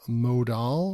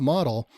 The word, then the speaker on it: modal: There was a modal or modal, whatever you guys want to call that. It's not model.